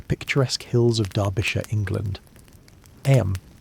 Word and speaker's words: Eyam: Eyam, you know, is pronounced just like 'em.